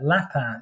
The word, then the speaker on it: Lapin: for this area is a general called lapa if that's how you pronounce it you know rabbit really in uh in French um he was the